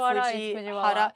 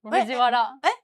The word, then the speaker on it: Fujiwara: 発音の並びか。と、藤Wara instead of Fujihara. Wait, I thought it was Bara. Right. Fujiwara.